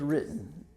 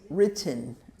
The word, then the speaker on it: written: answer the Constitution was written written that's one of those words that um is a little different because it's spelled w-r-i-t-t-e-n the W is silent so it's really just written written written written see